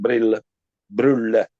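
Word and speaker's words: Brylle: It is interesting to remark this period was very happy for Kenneth Larsen Brulle in Danish. That's the real, the correct pronounce.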